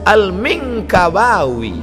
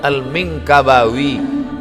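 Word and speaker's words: al-Minangkabawi: tengok apalah cara baca Alif Lam Mim Nun Kaf ba Alif wau ya rupanya lama saya baca alminkabawi Minangkabau Syekh Ahmad Khatib alminkabawi nama dia AHM Merantau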